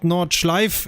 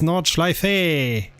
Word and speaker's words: Nordschleife: Because the E is pronounced to everybody out there, especially the English-speaking people. It's not Nordschleife, it's Nordschleife. Well, to that same level, it's pronounced Nippon, not Japan.